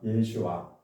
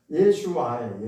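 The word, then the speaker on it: ישוע: 원래 예수라고 하는 이름이 본래 히브리어로 원래대로 하면은 이렇게 부르는 게 맞습니다. 예수와. 왜 예수하냐? 이거는 히브리어로 그렇다는 거예요. 히브리어로 예수와예요.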